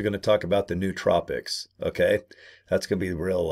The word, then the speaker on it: nootropic: uh the New Tropics that's how he pronounced it nootropic so it's like n-o-o tropics